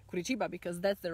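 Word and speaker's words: Curitiba: that was going on in the center of guru chiba kurichiba because that's the right pronunciation i started to curse in polish and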